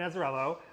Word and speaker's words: Azzarello: How do you pronounce it? Brian Azzarello? Yeah. Yeah. Brian Azzarello.